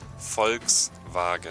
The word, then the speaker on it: Volkswagen: a v Zan basically everything that's W in German is pronounced like a V right yeah right so the vehicle um that we would normally say in the Philippines as um Volkswagen is also then becomes